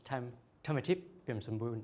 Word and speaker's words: Tham Thamathip Piamsambun: My full name is Tham Thamathip Piamsambun, and that's how you pronounce it in Thai.